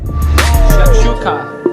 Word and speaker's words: shakshuka: Shakshuka.